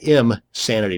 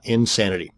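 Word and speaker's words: Imsanity: another one is insanity that's im sanity not insanity both of these once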